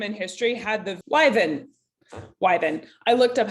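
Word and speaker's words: wyvern: by this time in history had the liven wyven i looked up how to say it just now and it's pronounced wyven but it's spelled w-y-v-e-r-n anyway this is another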